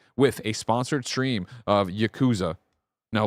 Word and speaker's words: Yakuza: supposed to say it Yakuza Yakuza no there too you're putting too much in the second syllable first syllable only Yakuza Yakuza Yakuza yeah yaku